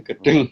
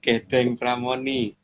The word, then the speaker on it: Gedeng Pramoni: gedeng pramoni atau Batari jadi bacanya bukan gedung gedeng pramoni.